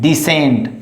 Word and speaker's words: descent: So C is silent and C is understood, or C is hidden. So don't pronounce C word. So here is descent.